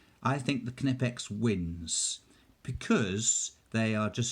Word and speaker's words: Knipex: to print out i'm going to pronounce the k i think the knipe x wins because they are